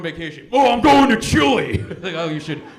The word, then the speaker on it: Chile: country in South America which I know that's pronounced Chile but it's kind of in the middle right but I can't say chili because they'll sound like